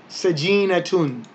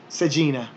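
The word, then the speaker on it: سجينة: So if you said sajina without that ha sound, you would be understood by most people. But if you pronounced it with the dhammas on the end, then you would actually say sajinatun, sajinatun, sajinatun. But because we're pronouncing it in isolation, then we say sajina.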